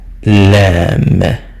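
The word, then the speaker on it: لام: after we have kef lamb. It's like the sound of the alphabet L.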